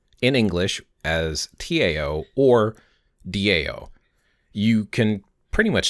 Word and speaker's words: Tao: English as Tao or Dao you can pretty much spell it however you want but the sound itself is usually da so it's not quite a d and it's not quite a t it's not ta it's